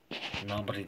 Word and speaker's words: Gnabry: Gnabry diye okunuyor.